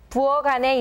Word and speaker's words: 부엌 안에: 부엌 안에 있어요. 부엌 안에 있어요. In the expression 부엌 안에, the 키읔 sound is turned into a 기역 sound because the representative sound of 키읔 is 기역.